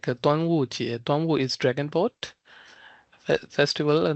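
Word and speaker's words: 端午节: Dragon Boat Festival is Duanwu generally, we will pronounce it like Duanwu Jie.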